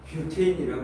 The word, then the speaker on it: 뷰테인: 우리가 지금 탄소 4개, 수소 10개짜리 얘가 옛날 발음으로 이게 부탄가스야. 뷰테인이라고 얘기해. 뷰테인인데 어차피 탄화수소 아니야.